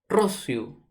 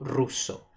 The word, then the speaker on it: Rousseau: Rossiu o ruso. ¿Está bien? Algunos pronuncian Rossiu o ruso.